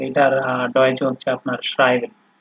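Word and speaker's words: schreiben: এরপরে এখানে হচ্ছে আপনার এস, সি, এইচ, এই তিনটা যখন একসাথে ব্যবহার হয় তখন এটার উচ্চারণ হয় হচ্ছে আপনার তালিবর্ষ বা স, এরকম। ঠিক আছে, যেমন এখানে দেখেন আপনার শ্রাইবেন। শ্রাইবেন মানে হচ্ছে আপনার ইংলিশে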